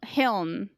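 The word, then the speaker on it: Hlin: It's spelled H-L-I-N. Hiln. Hiln is how I think is how the audiobook was saying it.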